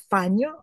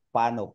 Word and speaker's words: Pano: your family name pronounced fano or or is it fano because Yes you're you're muted you're Yes ma'am Yes ma'am ah pronounce as spelled pano talaga Ma'am PR pano